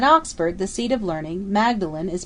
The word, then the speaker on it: Magdalen: it Ferguson at Oxford the seat of learning Magdalene is pronounced modlin probably in subtle tribute to the condition of